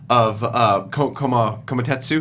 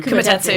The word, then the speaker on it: Kumatetsu: point, and we lose so much Kumatetsu. Kumatetsu, Thank yeah.